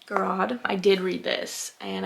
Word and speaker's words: Garrod: I always say her name wrong. Garrod.